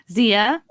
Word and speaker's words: Xia: Zia. I guess if you'd like to follow me on Twitter and Instagram, it's at Zia_land. It's spelled XIA_land.